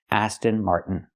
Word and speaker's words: Aston Martin: We can take the T and make it a stop T. Mart. Stop the air. Mart and fall to the end. Martin. This is the most common way to pronounce it in America.